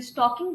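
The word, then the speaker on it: stalking: ये जो आपका जो स्टॉकिंग जो है, यहाँ पे एल जो है वो साइलेंट है।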